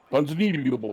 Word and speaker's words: Ponzinibbio: If you want to pronounce his name correctly, you have to do it underwater. Ponzinibbio.